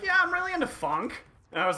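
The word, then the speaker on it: Phonk: yeah I'm really into Funk and I was like that came out of left field for someone that I'm listening to classical music with is that it's actually spelled with a pH it's p-h-o-n-k yeah okay because that's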